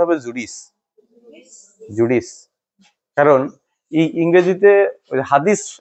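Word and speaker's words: Judith: কর্ম হলো প্যারাফ্রেস তিনি লিখেছেন জেনেসিস এক্সোডাস আর জুডি উচ্চারণটা ওখানে যদিও লিখছে জুডি কিন্তু আমাদের উচ্চারণটা হবে জুডিস জুডিস কারণ এই ইংরেজিতে হাদিস একটা বাংলা শব্দ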